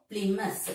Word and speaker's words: Plymouth: So, Plymouth. So, the first syllable is stressed here.